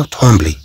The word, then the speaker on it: trembler: إذن كما نلاحظ هنا أننا ننطق هذه الكلمة كما لو عندنا هنا لا لاتر إن يعني حرف النون، على عندنا حرف النون هنا تي ترومبل.